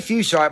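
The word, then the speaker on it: fuchsite: mineral in quartz it's foxite f-u-c-h -s-i-t-e foxides fuchsia they say fuchsia but that's boring because it's spelled like sight so we talk about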